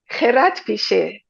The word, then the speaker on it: Kheradpicheh: Gerard Pichet, but you don't need to learn my last name.